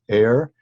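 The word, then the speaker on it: aer: Now, I will go ahead and write this and pronounce this as air. Your text introduces the idea that it may be something slightly different, spelled A-E-R, that is denser and more moist, we might say, than air.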